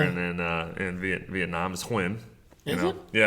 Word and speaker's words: Nguyen: It's spelled differently, but it's pronounced "win".